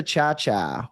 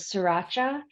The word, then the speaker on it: Ciaccia: good thank you and you pronounced my name correctly chaa I'm sure I'm sure you get a lot of different um pronunciations yeah I would say the the worst was sriracha and it was the um